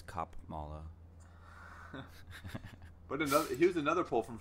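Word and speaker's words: Kamala: Harris is from California you pronouncing her name wrong it's cop mala but here's another poll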